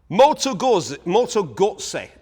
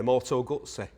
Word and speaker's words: Moto Guzzi: Moto Guzzi, I've been encouraged to say by you lot. I'm going to try it. There's no T in it, but I'm going to try it anyway. Moto Guzzi.